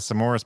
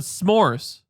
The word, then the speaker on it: s'mores: say it's like a some Morris pizza thing I'll look it up you added another syllable to the word s'mores the Morris the Morse